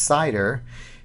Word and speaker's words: CIDR: you with that address cidr pronounced cider is referred to as